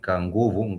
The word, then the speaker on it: nguvu: For example, kitabu, you might say a thing like nguvu. Nguvu, this is 2 syllables.